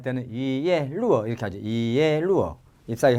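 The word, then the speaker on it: 一叶落: 잎사귀 하나가 떨어지면 할 때는 이예 루어 이렇게 하죠.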